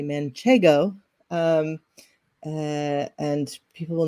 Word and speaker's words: Manchego: of people love Manchego they like to say manchango there is that's not how you say it so everybody on this podcast will be super smart and say Manchego um uh and people